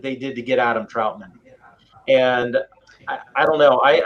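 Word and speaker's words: Trautman: draft capital to get Adam Troutman, rhymes with Broutman.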